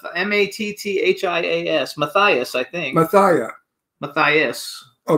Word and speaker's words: Matthias: The first guest is Matthias, and I don't know if that's how you pronounce it, Matthias Hues.